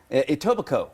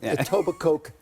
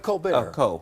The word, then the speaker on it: Etobicoke: never get it right itoba Coke the K is silent obviously to obviously the K is silent it's just like having a nice bottle of uh of uh it's like Co be Co it's like Co bear